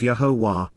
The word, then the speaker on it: Yahowah: and consistently exist as, imperfect, Yahowah, the proper pronunciation of Yahowah, our Eloah, God as directed in his Torah,